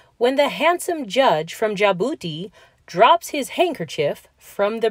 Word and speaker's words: Djibouti: D is for Djibouti. The boat race begins when the handsome judge from Djibouti drops his handkerchief from the bridge.